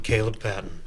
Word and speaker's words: Kaleb Patten: And I'm Kaleb Patten.